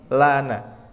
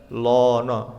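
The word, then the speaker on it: لَنَا: Kemudian hindarilah membaca tafhim dari huruf lam seperti lafaz lana. Jadi kita enggak boleh membacanya lono, tapi lana.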